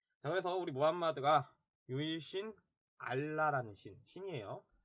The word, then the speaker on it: 무함마드: 매트 라고 거기에 뭐 발음 차이 입니다 영어 발음을 하냐 아닌 현지 발음을 하냐 뭐 이러한 차이인데 마호메트 라고 해도 맞고 무함마드 라 해도 말씀 맞는 말입니다 34 우리 교과서에 뭐 한 마디 라고 나와 있으니까 우리는 무함마드 라고 부릅시다 자외 서울이 무함마드가 유일신